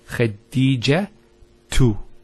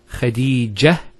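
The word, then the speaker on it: خديجة: And thirdly, if you actually pronounce the last letter with the harakah, so for example, say when say Khadija tu. Notice Khadija tu. We pronounce the ta. If we stop at the ta, Khadija, it's a ha.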